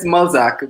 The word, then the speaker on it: Mulzac: So it's Mulzac, but yeah, you said it right actually.